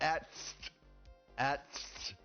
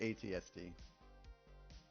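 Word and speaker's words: AT-ST: Uh, you said at at is how it's pronounced. No, you would say ATSD.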